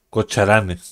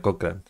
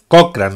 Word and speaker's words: Cochrane: Bueno, ustedes saben que yo pronuncio mal Cocharanes, no cualquiera, Cochrane. ¡Cochrane! ¡Cochrane es Cochrane, no Cocharanes!